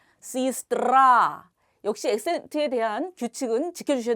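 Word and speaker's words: сестра: 써 있죠 에스 뜨라 하지만 엑센트 앞에 얘가 있기 때문에이 얘는 어떻게 읽는다 2로 익습니다 시스트라 역시 엑센트에 대한 규칙은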